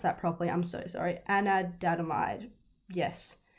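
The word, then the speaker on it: anandamide: i can't pronounce that properly i'm so sorry anadamide yes it's spelt a-n-a-n-d-a-m-i-d-e sorry if there's any scientists listening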